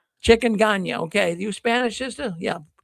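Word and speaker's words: chikungunya: Changonga. I'm not I'm not sure exactly how to pronounce it, but anyways. Chicken. Chicken ga.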